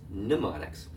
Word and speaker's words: mnemonics: In fact, if you look at the word, it's a strange word because it begins with the letter M. If the M is silent, it's mnemonics.